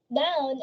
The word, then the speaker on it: down: Down is again to cow. Dow, cow.